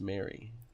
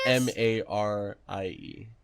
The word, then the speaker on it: Marie: know Bree's middle name it's Mary what Mary are you serious m a r i e Marie she spells it no oh I've been pronouncing it wrong this whole time we're breaking thought no